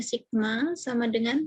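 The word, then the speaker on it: σ: dan simpangan baku Sabtu ini stigma bacanya Sigma = 1 kemudian distribusi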